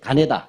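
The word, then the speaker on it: 金田: 예, 노란색 가네다. 네. 김전이라고 읽지 않습니다. 일본 사람들의 입장에서 읽어야 되잖아요. 창씨 개명한 이름인 거죠? 예, 가네다 요슈입니다.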